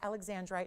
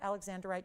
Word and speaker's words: alexandrite: Keep in mind, it is alexandrite, not alexandrite, just so everyone knows the pronunciation.